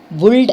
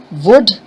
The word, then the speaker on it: would: often heard people saying bulled and cooled but it is not okay the l here in this case is silent so what do you say you say would you say could i